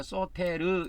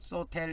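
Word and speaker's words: σωτήρ: 구원자 소테르 그래서 이제 소테르 이렇게 알 발음이기 때문에 흘려서 발음해도 됩니다. 소텔 뭐 이런 식으로 해도 되는데 이 소텔하면 또 이게 엘 발음이 되기 때문에 알 발음하고 엘 발음하고 이렇게 구분을 해야 되는데 제가 이거 이제 우리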